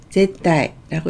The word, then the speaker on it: 絶対: 절대라는 뜻은 제따이라고 읽고요.